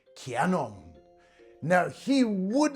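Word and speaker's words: キヤノン: Most people think it's a kenong, but actually it's written with a full-sized yah as in kanong.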